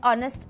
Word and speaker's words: honest: it's also used for words starting with a silent hitch for example an honor an hour an honest man so there you go